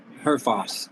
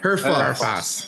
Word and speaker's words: Herfoss: Herfoss, yeah. Herfoss. H-E-R, Foss. Yeah, Foss, okay. Exactly how it's pronounced, how it reads, really.